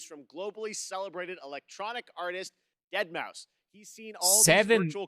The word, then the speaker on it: Deadmau5: Your good friend Joel, professionally known as Deadmau5. Yes, that is the correct way to pronounce it.